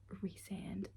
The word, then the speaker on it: Rand: And before anyone says that's not how you say his name, I know it's Rand, but I don't like that name for like a lot of reasons. So I just call him Ryan because I mean like